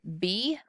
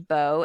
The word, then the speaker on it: bow: One common pronunciation and meaning would be bow, and that could mean bow as in a hair bow. It could mean bow as in a bow and arrow. It could also be pronounced bow, as in bowing over. It could also be the bow of a ship.